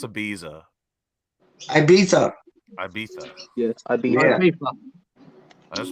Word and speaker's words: Ibiza: I want to go to a how do you pronounce Ibiza? Ibiza.